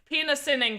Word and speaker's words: PINASining: Penasinning collection. I'm gonna pull. Perfect. That is so perfect. Good job. Oh yeah. You pronounce it very well.